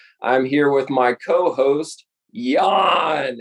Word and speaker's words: Jan: with my co-host yawn it's pronounced yawn like you're yawning yawning but it's spelled j-a-n yawn say hello to everybody hey everyone over here happy to be here uh it's yeah it's actually pronounced yarn because it's dutch so different to the american i guess so happy